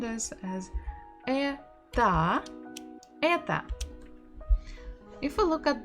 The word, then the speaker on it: это: Это почта. Это почта. Это почта. because in the first word это, the stress is not on O, so we must pronounce it as A.